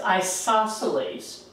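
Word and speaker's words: isosceles: ago this is pronounced isoceles this is pronounced scaling isos okay isos triangle now what would you think an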